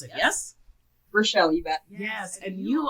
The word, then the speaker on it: Rochelle: Right, Rochelle, that's how you pronounce it, yes? Rochelle, you bet.